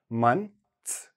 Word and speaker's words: months: Mun, like sun, run, months, months.